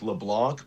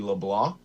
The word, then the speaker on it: Leblanc: Tyson Leblah, it's a French Canadian pronunciation. It looks like Leblanc, but it's actually Leblanc.